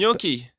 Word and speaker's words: gnocchi: It's spelled with a G. Then we're gonna move on. Then we're gonna move on from that Thank one. you. This will be the last. It's gnocchi.